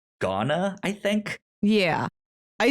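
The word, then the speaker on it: Gauna: how you pronounce it i want to say iguana but that's not it because the u and the a are s switch so it should be ghana i think yeah i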